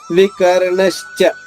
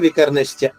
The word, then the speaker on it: వికర్ణశ్చ: మళ్ళా వికర్ణశ్చ, పైన చెప్పినట్టే కర్ణశ్చ, ఇక్కడ వికర్ణశ్చ, అదే ఆఘాత నియమం.